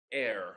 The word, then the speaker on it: heir: the presidency is his heir not pronounce like hair but pronounced like air that which we breathe yeah and it is